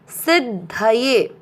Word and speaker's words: सिद्धये: चौथा चरण सी के साथ आधा द सिद्ध ध में मिक्स करेंगे धये सिद्धये।